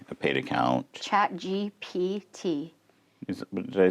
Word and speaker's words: ChatGPT: I always think you mess up the GD. You say GDP.